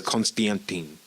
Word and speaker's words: Konstantin: So this guy's name is Constantine, but it's the most Russian way you can pronounce this. It's Konstantin. KOSTIANTYN.